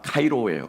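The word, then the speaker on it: χαίρω: 여기서 함께 한다라고 했을 때 이 함께는요, 기뻐한다라고 하는 말은 카이로예요. 카이로. 헬라어로 카이로인데 이집트에 있는 카이로 말고 카이로입니다.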